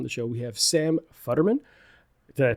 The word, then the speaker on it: Futterman: Today on the show, we have Sam Futterman. Did I pronounce that correct?